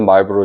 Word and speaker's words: Marlborough: When it comes to New Zealand sauvignon blanc, most of it is Marlborough region Marlboro cigarettes. The spelling is different, but the pronunciation is the same.